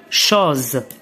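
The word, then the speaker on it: chose: دونك الحرف اس ينطق الزد إذا جاء بين حرفين متحركين، ينطق الزد. بحال مثلا هذه الكلمة، يعني الشيء، شوز، شوز، الحرف أ لا يقرأ في الآخر، وهذا الحرف حروف مركبة،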